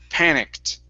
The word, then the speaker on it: panicked: the word panicked okay give me a t sound at the very end panicked good good all right